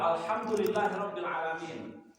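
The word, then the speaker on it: الحمد لله رب العالمين: Kesalahannya pertama di ha, kemudian di a. Alamin. Apa implikasinya kalau salah? Pertama, segala puji hanya milik Allah, Tuhan pemelihara alam semesta. Itu kalau yang benar bacanya. Bagaimana kalau ha? Alhamdulillahirabbil alamin. Jadi alif bukan ain, maka artinya segala diam,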